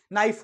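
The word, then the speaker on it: knife: उसका उच्चारण नहीं करते जैसे नाइफ हो गया चाकू है तो उसमें हम एन से स्टार्ट करते हैं के नहीं बोलते ना होना क्या चाहिए क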